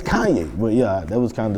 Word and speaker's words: Kanye: Kanye West producer JJ like it's Kanye, right? That's how you say it. It's not Kane. It's not Kane. It's Kanye.